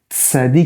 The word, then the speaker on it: tsadé: Et on a le tsadé qui ressemble. Ne confondez pas sin, samer et tsadé. Tsadé, c'est vraiment TS.